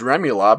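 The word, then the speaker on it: rémoulade: don't know it's about i know it's pronounced remy lob i don't know what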